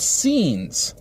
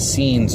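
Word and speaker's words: Seens: And it's called scenes. So the tactic is the scenes tactic. But scenes is spelled S-E-E-N-S.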